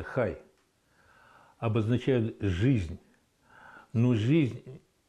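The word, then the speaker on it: חי: есть одна шкатулочка вот эти буквы они означают хай хай читается хай обозначают жизнь но жизнь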